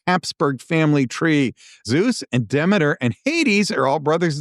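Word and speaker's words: Demeter: So Demiter, I've also heard that pronounced Deer. We're going to go with Demiter, is the goddess of grain and seasons and harvests.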